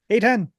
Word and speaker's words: Eitan: 99% of the people that I talk to get it wrong, but I always say it's like the letter A and the number 10.